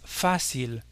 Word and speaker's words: fácil: Le mot facile n'est pas aussi facile parce que comme vous pouvez le noter en français, on a tendance nous à porter l'accent tonique sur la dernière syllabe audible et on dit c'est facile. On accentue la dernière. En espagnol, pas du tout, l'accent porte sur le A. Il faudra donc dire es fácil, es fácil.